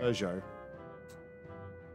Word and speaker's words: Peugeot: Peugeot. There's no R. Damn it, there's no R. It's Peugeot.